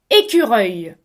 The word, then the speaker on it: écureuil: Écureuil. Voici mes amis, le mot écureuil contient 3 morceaux phonétiques.